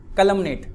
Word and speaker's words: calumniate: क्या लिखा है, कैलुमिनेट। कुछ लोग कैलुमिनेट भी पढ़ते हैं, थोड़ा सा प्रोनाउंसिएशन का फर्क है, कैलुमिनेट भी पढ़ सकते हैं, बट जो सही प्रोनाउंसिएशन है वो क्या हुआ, कैलुमिनेट। ठीक है, क वाला।